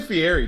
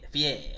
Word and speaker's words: Fieri: You always say Fieri too. It's pronounced Fieri. I'm not saying that. I'm not French. I always said It's not French. It's I always Italian. Said Ferrari. Whatever it is. I always said Ferrari.